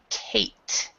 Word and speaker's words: Kate: So in English, we pronounce this Kate.